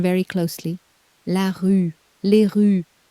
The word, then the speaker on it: rues: La rue, les rues. Did you hear the plural? No, you did not. The S is silent, of course it is. The article does all the work.